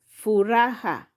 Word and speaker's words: furaha: then we have here furaha. furaha furaha ha syllable fu ra ha those are three syllables furaha in English means